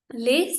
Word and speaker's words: Les: Again S is silent, लिखना है, बोलना नहीं है.